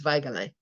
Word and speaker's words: Weigele: So there is no w sound in German. It's a v, obviously. And EI is an I sound, and the G is hard, so it's Weige, and you pronounce every letter pretty much, so it's Weigele.